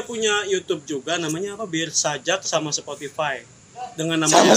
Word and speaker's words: beersajak: Jadi Bir Sajak kalau dalam pronunciation Bener. bahasa Inggris ya.